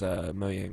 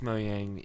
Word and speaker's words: Mojang: Our person was one of 3 co-founders and chairmans of the board as far as Mojang was concerned.